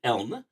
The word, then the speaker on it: Elln: Actually did get in touch with her to make sure I was pronouncing things properly there. So I can say with confidence that it is Elln.